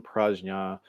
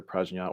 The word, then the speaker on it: prajna: I mean, we're with the term prajna, which can be pronounced either prajna or prajna, depending on sort of regional differences in pronouncing Sanskrit. So either one is okay.